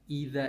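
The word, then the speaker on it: إذ: Nah, idza itu ketika ada alif depannya ya. Ketika ada alif depannya baru dibaca idza. Tapi kalau nggak ada alif bacanya id.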